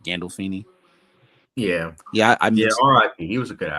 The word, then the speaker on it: Gandolfini: Gandolfini.